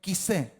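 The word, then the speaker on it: כסא: la palabra trono es la palabra quisé, como k i s e. Quisé con acento en la última e. Bueno, en la única e que hay.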